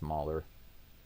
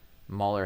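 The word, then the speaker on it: Mahle: Tyler Mer, his name spelled like Molly, but I think it's Mer.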